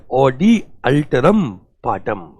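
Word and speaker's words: audi alteram partem: ऑडी अल्टरम पाटम, ऑडी अल्टरम पाटम। बच्चों मेरे साथ में देखो प्रोनाउंसिएशन कैसा है इसका, ऑडी अल्ट्रम पाटम, ऑडी अल्ट्रम पाटम।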